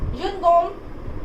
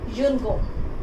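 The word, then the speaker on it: une gomme: Noun pronunciation is same in singular and plural both. If I am talking about one eraser, then I will say yun gom.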